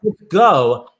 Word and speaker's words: Lithgow: And he said, it's Lithgow.